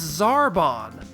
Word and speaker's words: Zarbon: taking an extended vowel sound and shortening it, while here we're taking a short vowel sound and lengthening it. So, if Frieza comes from freezer, then it makes sense that zabon becomes Zarbon.